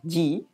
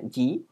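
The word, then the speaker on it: 時: Ya, dua huruf kanji ini, yang ini adalah ini adalah ji, ya. Itu jam, bacanya ji.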